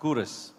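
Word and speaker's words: Quros: spelled q u r o s but it's pronounced curre now kurus we have the founder coming up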